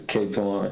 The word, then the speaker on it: Katwan: How do you say It's K-Twan. Katwan?